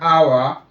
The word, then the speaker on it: hour: We use an for all these words because the H are not pronounced.